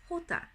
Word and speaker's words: jota: the letter J now the letter J is spelt in Spanish J ot8 but it is pronounced hota so however it sounds